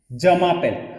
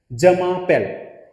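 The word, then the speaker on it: je m'appelle: सैल्यू, जमापेल, हमेशा फ्रेंच में याद रखना एक साथ वर्ड को रीड करते हैं, जमापेल, जमापेल, ओके।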